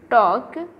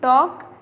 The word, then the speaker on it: talk: Okay, so नाउ the next your question is that look at the word talk, here L is silent. Look at the word talk, here L is silent.